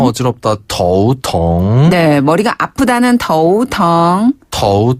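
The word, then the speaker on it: 头疼: 쓰고요 아프다라는 뜻의 단어는 텅 텅 텅 그래서 더우 텅 더우 텅 더우 텅 아 어지럽다 더우 텅네 머리가 아프다는 더우 텅 더우 통 어지럽다는 더우 윈 아 윈 하다가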